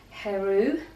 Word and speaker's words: Hereu: They are Spanish, and I think it's pronounced Heru. It's spelled Hereu.